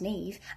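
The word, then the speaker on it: Niamh: is pronounced siobhan and nymph is pronounced nev and sharon is pronounced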